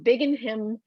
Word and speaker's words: Binghamton: He's a full time single girl dad from Binghamton, New York. Did I say that right? Binghamton, Thank you. Binghamton.